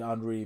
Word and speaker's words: Henry: I said Andre because that's how the French pronounce Henry but you know I'm not sure if that's how they this guy pronounces his name but bear with me.